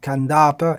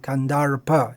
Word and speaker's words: Kandarpa: Now, the anglicized pronunciation of that would be Kandarpa. But there is a difference. If you listen carefully, Kandarpa is without pronouncing the r, and Kandarpa is pronouncing.